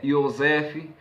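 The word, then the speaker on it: יוסף: José, Yosef, Josué, Yohushua.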